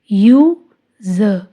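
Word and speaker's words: use: यू ज, यूज, ई silent.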